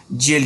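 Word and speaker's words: gaol: में किया जाता है इसको प्रोनाउंस जेल किया जाता है यह बहुत इंपॉर्टेंट क्वेश्चन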